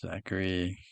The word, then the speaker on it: Zachary: Zachary Zachary Yes, Zachary with a K sound for the C H.